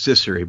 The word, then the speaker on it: Cecere: Cecere? Well, nobody's ever said it right, so I forgive you. It's Cecere, but that's fine.